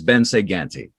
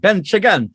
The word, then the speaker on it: Bence Ganti: his own ongoing development in other projects is ben saganti did i pronounce that right yeah yes perfectly okay part of me wants to do an italian like bench again that's not quite it but you know it's